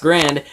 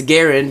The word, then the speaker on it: Garand: hence its name MX grand it well actually it's garand is the correct pronunciation of it but this is essentially